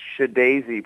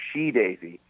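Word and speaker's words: SHeDAISY: Speaking of risks, I didn't know how to pronounce Shadaisy properly. I called them She-Daisy. I got in trouble for it.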